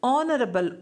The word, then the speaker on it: honorable: the word honorable may, though it begins with H, but H is silent. We do not pronounce H at all. So in our pronunciation, we do pronounce it as honorable, O, honorable, honest, R.